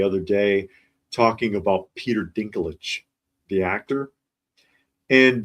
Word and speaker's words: Dinklage: And I saw one actually the other day talking about Peter Dinklage, the actor, and the AI could not say his name. And it was calling him Peter Dickin Legs.